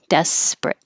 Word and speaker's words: desperate: syllables desperate but the middle one is not stressed and we drop it desperate withdraw withdraw and 15